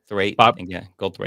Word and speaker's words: Goldthwait: Goldthwait.